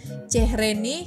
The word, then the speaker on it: çehreni: kurban olayem kemudian ada lagi chehreni itu kan c yang ada ekornya bacanya C cehreni kemudian ei sama chehreni